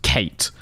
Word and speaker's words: KVIII: KVIII. pronounced Kate. K and then the Roman numeral for 8.